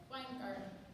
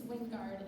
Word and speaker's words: Weingart: Also from Agri-Science and Natural Resources, Weingart. I said it wrong. I promised I wouldn't say her name wrong, and then I did. It's Wingard, and she's from Cadillac.